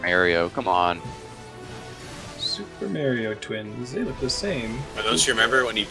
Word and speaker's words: Mario: that perks me is when people call a Mario Super Mario Brothers marry oh brother like have you not